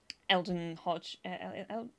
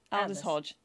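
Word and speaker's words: Aldis Hodge: um uh beth reescraft eldon hodge no i've said his name wrong elder l the elders look it up look it up aldous hodge and um kristen christian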